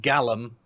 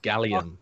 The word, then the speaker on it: gallium: me some of that Gallum no it's gallium oxygenium what the [